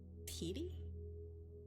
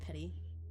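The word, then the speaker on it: peaty: So, it's Petey. That's instead of petty.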